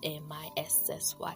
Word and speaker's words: Mici: Missy spelled Mici and pronounced Missy.